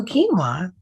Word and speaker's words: quinoa: a little later so quinoa which is spelled q-u-i-n-o-a but pronounced k-e-e-n -w-a-h quinoa has so many